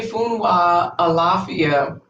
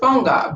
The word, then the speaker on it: Funwa Alafia: song is one that we learned as funga because the American schools taught it as funga. They had the pronunciation wrong. They even have it in music books. They got the music, the words, everything.